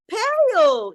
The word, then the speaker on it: pale: Then we go pale. You stop here. Pale. The E is silent.